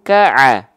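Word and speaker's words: ك: Nah, pertanyaannya, huruf kaf ini dibacanya faja'alahum ko'a atau faja'alahum ka'a. Pakai vokal A, pakai vokal O. Kalau huruf kaf mah bang vokal A dong, bukan kok dong, tapi kak dong bang. Vokal A ya, maka dia huruf yang tipis, huruf yang tebal.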